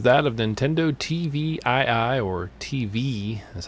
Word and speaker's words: TVii: Our first story is that of Nintendo Tvii, or Tvii is how it's pronounced.